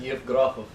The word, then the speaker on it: Yevgrafov: Yevgrafov. Yevgrafov. Mm-hmm. So just not as much enthusiasm on the last O, and I've got it, right?